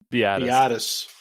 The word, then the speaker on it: Biadasz: Biadasz.